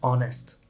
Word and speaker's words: honest: H can be silent at the start of a word, especially in words that come from French. Honest, not honest, just honest.